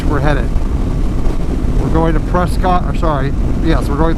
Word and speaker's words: Prescott: We're going to Prescott, or sorry, yes, we're going through Prescott, or Prescott as the locals say, then through Jerome, which